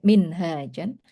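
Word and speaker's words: منهاج: Warosama dan menggambarkan siapa asyara'u lahu bagi insan minhajan. Jadi kalau hanya panjang itu minhaj. Tapi kalau hanya pendek manhaj bacanya ya.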